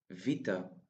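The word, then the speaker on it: βήτα: Vita. Vita. The sound of vita is the same as the v sound in vote.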